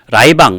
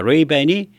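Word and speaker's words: Ray-Ban: 안 쓰지만 옛날엔 선글라스를 라이방 라이방 그랬습니다 라방의 일본 발음으로 레이 밴입니다 레이밴이 선글라스를 최초로 만든 회사죠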